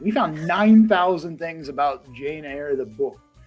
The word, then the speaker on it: Jane Eyre: Can you pronounce it correctly? Jane Eyre. Jane Eyre.